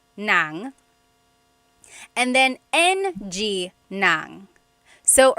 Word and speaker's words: ng: N a n g nang and then ng nang. So earlier I said like oh adobo I am eating some adobo that nang is ng ng I'm